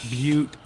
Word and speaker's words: Butte: by the way Naomi that's beaut that's beaut don't pronounce it the other way it's beaut gas I touched the